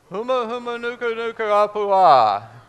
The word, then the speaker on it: humuhumunukunukuapua'a: would we pronounce that now we're going to pronounce all the vowels okay so one two three go humuhumunukunukuapua'a excellent thank you